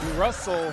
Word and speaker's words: Russell: genius that's his Brilliance Russell rhymes with funnel how to Market how